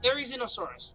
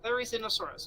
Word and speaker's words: Therizinosaurus: It is pronounced Therizinosaurus. Therizinosaurus.